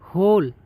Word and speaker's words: hole: क्या कहा, ई जो आपका दिया है, यदि ई किसी भी शब्द के अंत में है तो ई को नहीं पढ़ा जाता है और ई का जो है कोई भी उच्चारण नहीं होता है।